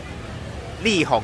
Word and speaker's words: 麗紅: 立宏啊，哦，立宏啊，没有口误就好。